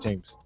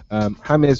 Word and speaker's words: James: Yes, and it is James, not James. No, I have to point out it is James. James. Spelled James, pronounced James.